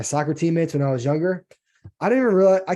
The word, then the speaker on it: Jung: J U N G is how you pronounce Young. Uh I because I don't think it's Jung.